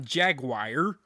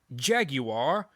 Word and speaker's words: Jaguar: It's not Jaguar. It's Jaguar, if you're going to pronounce it right. But I'm an American, so I say Jaguar.